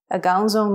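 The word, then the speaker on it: အကောင်းဆုံး: A gaozong mesui. Well done. You'll notice that a is very short and weak and sort of leans or disappears into the next syllable. A gao.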